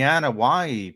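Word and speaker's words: Anoaʻi: the thing the the the Anna waii family um which is the famous wrestling family that's how you pronounce it and Hawaii and it's spelled a-n-o-a-i I believe so you know some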